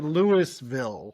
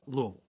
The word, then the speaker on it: Louisville: A lot of people say Lewisville. Never have just dumb. But the uh prod correct pronunciation is Louisville.